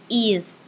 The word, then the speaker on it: EES: Así es, chicos y chicas, nosotros vamos a hablar sobre EES, que se pronuncia EAS, que es el acrónimo